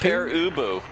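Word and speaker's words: Pere Ubu: in like I don't know the name it's pronounced per ubu and you know so find it if you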